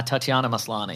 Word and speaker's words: Tatiana Maslany: the name is the actor i've forgotten uh tatiana maslany thank you very much absolutely is how you pronounce it that is true looks great yeah